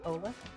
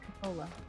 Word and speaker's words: Coppola: of that he's actually related to Francis Ford Ebola I did not know I'm not familiar with Francis Ford Coppola uh Francis Ford Coppola directed the first oh